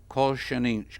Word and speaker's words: colchicine: could possibly be prevented by a drug called colchicine. I don't know how to pronounce that. Colchicine.